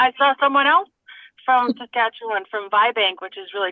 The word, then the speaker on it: Saskatchewan: And then there's Kirsten is from Sketch- Sketch-u-wan? Is that how you say it? Sketch-a-sh- How do you say that? Can you unmute, Kirsten? Saskatchewan.